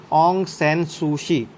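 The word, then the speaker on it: Aung San Suu Kyi: और national league of democracy जिसको lead कर रहे थे ऑन्ग सैन सुई काई, सूशी ने किया जाता है प्रोनाउंस, ऑन्ग सैन सूशी।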